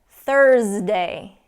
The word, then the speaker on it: Thursday: days of the week Thursday okay really emphasize that and get that Z sound in there Thursday Tuesday Tuesday